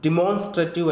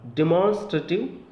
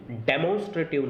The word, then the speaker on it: demonstrative: Last और देखते हैं डिमॉन्स्ट्रेटिव एडजेक्टिव्स। सबसे पहले तो इसका जो प्रोनाउंसिएशन है वो डी और ई का साउंड, डिमॉन्स्ट्रेटिव एडजेक्टिव, डेमोन्स्ट्रेटिव नहीं, डिमॉन्स्ट्रेटिव एडजेक्टिव्स।